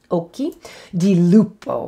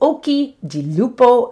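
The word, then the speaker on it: occhi di lupo: hard k sound so if you ever see a ch in italian if it's an italian word it is pronounced with a k sound so oki oki di lupo and hopefully you can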